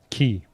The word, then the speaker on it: quay: How'd you pronounce that? Key.